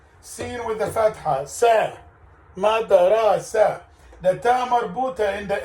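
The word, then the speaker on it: مدرسة: Ta marbuta. You don't pronounce in the end. You make it as a.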